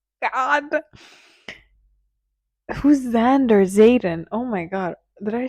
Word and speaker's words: Xaden: We've reached that part where her sister tells her to stay away from Xander. God, who's Xander? Zayen. Oh my god, did I say the name wrong?